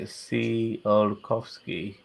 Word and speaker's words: Tsiolkovsky: Okay, Um, so apparently I've got to say it like Tsiolkovsky.